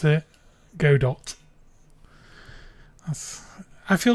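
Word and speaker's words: Godot: Before you started learning GDAU, do you pronounce it go dot? That's I feel like it should be pronounced go dot cuz the logo is literally a robot.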